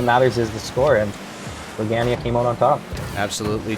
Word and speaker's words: Brogania: All right, I've got a message in Twitch chat from Big Daddy Brogan, who says it's pronounced Brogania. So we will go with that pronunciation.